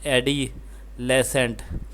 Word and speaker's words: adolescence: The word has four syllables.